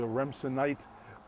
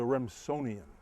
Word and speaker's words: Remsonian: We thought that perhaps it was a Remsenite, but I've been told by Ryan over here that the proper pronunciation is a Remsonian.